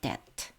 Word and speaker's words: debt: 그리고 우리의 빛도 어 갚으십니다. 비는 묵음입니다. 어 자 그러면 다시 읽어 볼까요? Jesus deals with our guilt. Jesus pays our ransom and our debt.